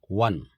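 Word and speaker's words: one: अब यहाँ 1 के पहले क्या आएगा, अब स्पेलिंग तो ओ से चालू हुई है, AEIOU वाउल लेटर है, पर उच्चारण पर जाइए, वन, वा एक व्यंजन ध्वनि है, कॉन्सोनेंट साउंड है, इसलिए इसके पहले आ का यूज होगा।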